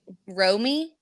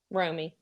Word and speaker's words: Romy: Romy. Romy.